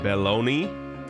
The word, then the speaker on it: Belloni: Industry insider Matthew, I can't even pronounce that last name, Belloni, like baloney?